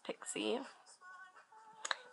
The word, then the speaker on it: Pixi: It's Pixie She, whatever how you pronounce it, lip butter / lip balm. I'm pretty sure it's pronounced Pixie. Let's see.